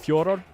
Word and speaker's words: Fedor: But it has something to do with the Russian dialect and the way that the name is pronounced. Because I asked him, what does your mother call you, right? That's what he said. It's something like Fjordor. And he just says Fedor's fine.